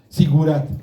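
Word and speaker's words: zigurat: Prenúncialo bien porque yo lo pronuncio mal. Otra vez fuerte para que lo escuchen. Sigurat. Eso es sigurat, perdón. Se dice sigurat, no lo que yo dije, que ya no me acuerdo ni qué dije.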